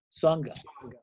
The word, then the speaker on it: Songa: Is that how you pronounce Songa. it? Songa.